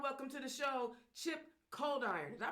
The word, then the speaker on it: Coldiron: Y'all welcome to the show, Chip Coldiron. Did I pronounce that right? Yes, ma'am. All right. Coldiron, Welcome to the show, sir.